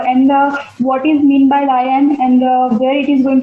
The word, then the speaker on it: lien: The pronunciation is lion, and I think this is a new word for you.